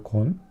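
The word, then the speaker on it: 鯤: 자가 붙던가 요거는 뭐냐면 곤이라는 곤이라고 읽어요 곤 곤이라고 읽는데요 사람 이름 곤하고 딱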